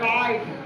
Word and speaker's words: right: GHT, तीनों word को हम लोग टा से प्रोनाउंसिएशन करते हैं। जैसे MIGHT, माइट, LIGHT, लाइट, RIGHT, राइट, GHT को टा से पढ़ रहे हैं, ध्यान देंगे ना।